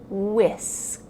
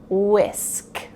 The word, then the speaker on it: whisk: I whisk the pancake batter with a whisk. I whisk the pancake batter with a whisk. Notice that the H is silent. It only sounds like whisk, whisk.